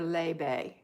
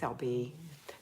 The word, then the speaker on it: LB: LB is it pronounced LB or Lebe? It's LB.